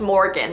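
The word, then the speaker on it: Morrigan: actually spelt m-o-r-r-i-g-a-n but it's still pronounced morgan like the usual name the morgan was the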